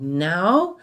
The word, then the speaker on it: know: Now, the one with a silent K, no, right, refers to being familiar with something or someone. I know that answer, or I know that boy. Right, K-N-O-W. And remember, we never pronounce the K, so it's no.